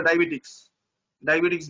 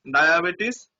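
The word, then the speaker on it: diabetes: মাথায় রাখতে হবে ডায়াবেটিস ওয়ার্ডটা অনেক সময় লিখতে দিতে পারে যে ডায়াবেটিস লেখো, বা অনেকে বলে ডায়াবেটিক্স বলে, তো ওইভাবে না, ডায়াবেটিস এইভাবে উচ্চারণ করবা, ডয়কার ডা উনতেস্তিকার আ দয়কার বে টরিষ্কার টি স, এখানে হচ্ছে ডায়াবেটিস।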